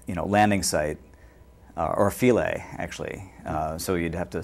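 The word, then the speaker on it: Philae: and uh uh you know Landing site or filet actually so you'd have to spell that p-h-i-l-a-e um uh that that should get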